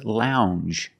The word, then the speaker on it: lounge: and this word is lounge Lounge it makes the regular n n plus the J Lounge it follows the same pattern as orange and change